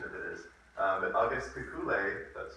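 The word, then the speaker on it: Kekulé: So anyway, this, I apologize, the most pronunciation of it is, but August Kekule, that's how you pronounce it, he had a daydream.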